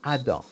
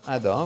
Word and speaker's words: Adam: Lulu, on prononce le nom Adam.